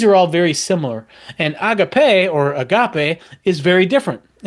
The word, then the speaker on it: agape: And now that's how C.S. Lewis pronounces it, agape. So Greg, and I think most people pronounce it agape, which I like the little nod to C.S. Lewis, agape.